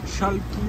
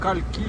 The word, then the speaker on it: Chalki: Gon est moteur pour l'instant de Shalky ou Kalky, ça dépend comment on le prononce à l'horizon.